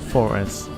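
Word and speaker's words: Forres: I want to say Forz for N is ahead. Radar contact direct there. That's n again, however you want to pronounce it. Forz. Yes, Forz. Because I think of the football team, Forest Mechanics.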